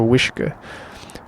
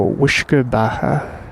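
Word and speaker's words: uisce: e a t a so wish pretty sure it's i don't know i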